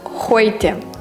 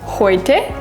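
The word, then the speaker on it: heute: і та і та буквосполука дає звук Ой приклади з е у - це в нас но це новийхо радіти Та хойте хойте це сьогодні приклади з А омляд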